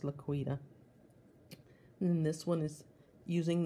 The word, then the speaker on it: LaQuita: eight letters in my name and it is pronounced laQuita even though looks like luck wetter but it is pronounced laquida and this one is using the same beautiful